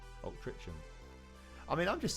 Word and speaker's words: Altrincham: Why is the C in Altrincham pronounced like a G? Altrincham.